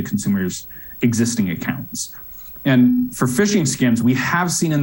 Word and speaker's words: phishing: a fish for dinner this fishing is spelled starting with a pH instead of an F so pH issuing and